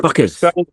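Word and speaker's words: FCUKERS: They're called what? Fuckers. But they're Fuckers. It's spelled F-C-U-K-E-R-S.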